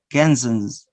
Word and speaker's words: Guns N' Roses: There is a famous band, no? And we use this reduction, this weak form. Guns N' Roses. No? Have you heard this group? This rock group? Guns N' Roses. Gansons. Notice that you use the apostrophe N, no?